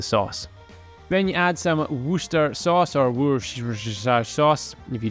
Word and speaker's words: Worcester: something for the sauce then you add some Worcester sauce or sauce if you don't say it